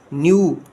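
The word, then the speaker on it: knew: आई न्यू, के silent है न्यू का, दैट इट वॉन्टेड टू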